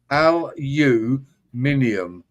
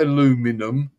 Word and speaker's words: aluminium: you guys that say read it as it shows on the screen there Eric there's another U there L you minium not illuminum yeah let's hear you